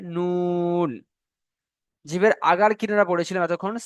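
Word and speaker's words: ن: 9 নম্বর মাখরাজ, জিভের আগা এবং তার বরাবর উপরের তালুর সাথে লাগিয়ে উচ্চারণ হয় নুন।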